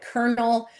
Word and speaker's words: Colonel: Like Colonel, for example, took the Italian spelling, but the French pronunciation. So that's why it sounds like there's an R in there.